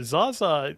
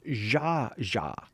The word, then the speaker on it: Zsa Zsa: It doesn't even seem like you're trying to pronounce her name right. It's Zsa Zsa.